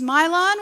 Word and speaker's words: Milan: me break it down it's my lawn which is Vietnamese because I'm half Vietnamese it's because my